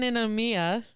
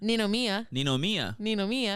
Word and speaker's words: Ninomiya: John Ninomiya. John what? Ninomiya. Okay. The thing about Japanese that people don't realize is when it's translated to like English writing, it's spelled exactly the way that you should say it.